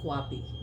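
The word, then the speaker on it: QAPI: assurance right which we call it um quapi. So quapi is spelled as QA PI and as we all know this is a very significant role in our part of leadership.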